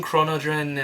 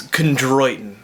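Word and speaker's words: chondroitin: I also tried glucosamine chronin and MSM if I pronounce that right I'm sorry man all right just looked it up it's krtin not chronin I don't know what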